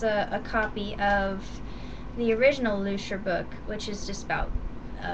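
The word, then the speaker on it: Lüscher: This time, the book is by Dr. Luscher, I believe it's pronounced, because there's a umlaut over the U.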